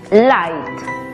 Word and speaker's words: light: Aplicando la regla, la GH es muda y la I toma su sonido abierto. Por lo tanto, la pronunciación es light.